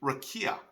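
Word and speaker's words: raqiya: the word firmament and in the hebrew it's actually rakia okay r-a-q-i-y-a and obviously i'm probably not pronouncing it perfectly for hebrew uh with the accents and the different things in the right place however um many people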